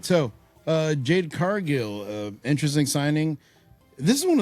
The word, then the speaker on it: Cargill: Is that how you pronounce it? Cargill. Yeah. My bad.